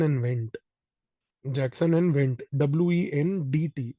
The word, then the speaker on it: Wendt: W-E-N-D-T. D is silent.